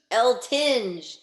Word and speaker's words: Eltinge: Is that how you pronounce it? L. Tinge, Julian Okay.